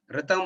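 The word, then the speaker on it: ऋतम्: Ritam means RTAM. RTAM கிடையாது, அதுக்கு மேல அந்த சான்ஸ்கிரிட் இதெல்லாம் போட்டுக்கணும். ஆருக்கு மேல ஒன்னு போடணும், டீக்கு கீழே ஒரு டாட் வைக்கணும். அப்பதான் you will get the actual pronunciation.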